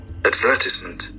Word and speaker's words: advertisement: Advertisement. Advertisement. Advertisement on the second syllable.